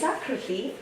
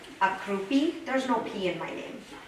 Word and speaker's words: Akruti: I've been called Akrupi, there's no P in my name. Akruti, there's no D in my name. Crouton, I don't think Akruti sounds like crouton.